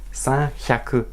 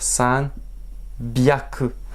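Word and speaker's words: 三百: Nous avons donc san hyaku, la prononciation qui aurait dû être normale, mais le japonais il va dire san byaku.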